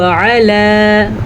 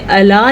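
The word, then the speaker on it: على: بیدہ الملک وہو علی کل شیء قدیر۔ وہو علی، ہاں پہ پیش ہے تو ہاں کو اپنے تلفظ سے پڑھیں گے، اور علی میں عین کو ٹھیک طریقے سے پڑھیں گے، الا نہیں پڑھیں گے اس کو۔ الا کا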